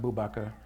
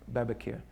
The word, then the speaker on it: Abu Bakr: And I have been taught that the name Abu Bakr, and it's pronounced Bubakar, or like the sheikh in Babakir, that the reason why